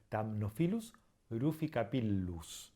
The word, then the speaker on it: Thamnophilus ruficapillus: Para terminar, cuando tenemos una doble consonante, como por ejemplo la doble L, no es una letra distinta, es simplemente una letra que se estira un poco. Por ejemplo, Thamnophilus ruficapillus.